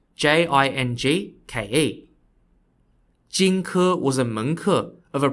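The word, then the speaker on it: Jing Ke: of this is a man named spelled j-i-n-g-k-e jinku was a manku of a prince of the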